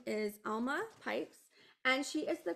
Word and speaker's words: Alma: So, Alma, am I saying it right, Alma? So what's really funny is they say it different on each side of the state. So when I lived in Georgia, they would say, and when I lived